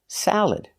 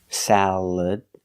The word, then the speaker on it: salad: Example, salad. Again, the second syllable is not stressed. So, you have three choices. You can use the schwa. Salad sound. Salad. You can use the e sound like eggs.